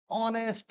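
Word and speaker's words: honest: अगले रूल में बेटा साइलेंट एच वाले शब्द जहां एच का उच्चारण नहीं होता है, अब हम उन शब्दों पर या उन वर्ड्स की बात करेंगे बेटा जहां शुरू में तो एच लगा है पर उनका उच्चारण एच से नहीं होता, है ना। जैसे जैसे ही इज ऑनेस्ट में क्या होगा उच्चारण बेटा, ऑनेस्ट, ऑनेस्ट में ओ आया ना, तो क्या लगाएंगे यहाँ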